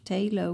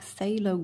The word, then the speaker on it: phthalo: I would pronounce this I would have said dark tail Oh green but you guys explained to me that the pH should not be pronounced so it should be dark phthalo green thank you very much